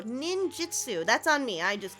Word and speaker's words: ninjutsu: Um, Link wanted to show off his secret ninjitsu. Ninjitsu. Oh, there we go. Ninjutsu.